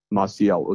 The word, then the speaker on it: Maciel: tell my son about how do you spell it uh m-a-c-i-e-l martial it's maciel's butcher shop i think they call